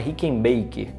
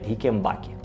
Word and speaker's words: Rickenbacker: realizado no baixo rickenbacker isso mesmo não é rica em bike é rickenbacker embora a gente às vezes acaba e pronunciando Rick Baker mas até onde eu me informei O correto é rickenbacker esse vídeo é muito